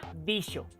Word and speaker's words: dijo: que una palabra como el verbo dijo se pronunciaba dicho y se escribía con x lo que han visto